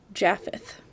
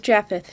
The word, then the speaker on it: Japheth: am going to butcher it is spelled for all of you that want to know j a p h e t h so i'm going to say jaffeth so she married a man named japheth leeds with jaffeth she